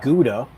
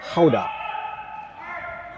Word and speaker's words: gouda: Another Dutch word I think we're all familiar with, the the cheese gouda. That's the an Anglicized way of saying it. Apparently in Dutch, it's gouda.